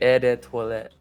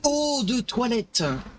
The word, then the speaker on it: eau de toilette: It's like et des toilettes or something. I don't know. Eau de toilette. Yeah, I butchered it.